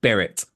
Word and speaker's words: beret: It's pronounced beret.